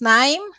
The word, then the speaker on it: KNIME: it correctly right because I know there's an issue with the K and an N and people get confused the case Island so yeah it's pronounced correctly it's 9 so actually 9 is